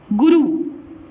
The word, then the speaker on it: गुरु: तो गुरु हम उच्चारण नहीं करते, हम क्या करते हैं उच्चारण, गुरु। इसमें कम समय लगा, गु और रू, गुरु।